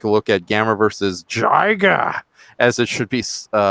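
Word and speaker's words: Jiger: going to take a look at Gamma versus Jiga, as it should be pronounced.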